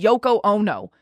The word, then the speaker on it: Yoko Ono: there's already things about her being the next Yoko Ono is that how you say it yeah okay